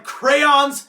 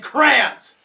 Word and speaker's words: crayon: salty and don't even get me started on crayons and Krantz it's crayon